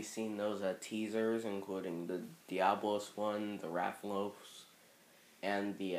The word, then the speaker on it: Diablos: the heck Yep this did you just say diabos I'm sorry I have to rein I just yeah he said diab Bros it's Diablos Diablos even pronounce Diablos I